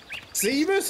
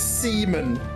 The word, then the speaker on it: Zebus: Zebus is a guy name, and you said you said the name wrong earlier, I think. Yeah. You just accidentally said Seaman.